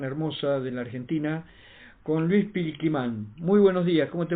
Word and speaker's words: Pilquimán: Di cómo se dice que mi nombre Luis Pilquimán, yo soy lonco de la comunidad huefu del